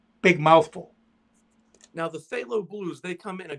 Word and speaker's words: phthalo: the blues you use ultramarine and then the phthalo cyanide below cyan on blue short term they some of the some of the makers just call it phthalo blue t-h-a-l-o but it's spelt something like p